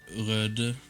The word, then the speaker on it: Røde: quality mics, especially the Rode, however you pronounce it in English. I would say Røde. That's how we would say it here in my town, basically, or the city I live in.